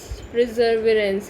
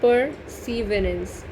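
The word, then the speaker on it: perseverance: प्रिजर्वेरेंस यानी दृढ़ता। सॉरी यार, आई एम सो सॉरी, प्रिजर्वेरेंस नहीं, परसीवरेंस। स्पेलिंग देख लो, परसीवरेंस, अब ठीक बोला है, परसीवरेंस।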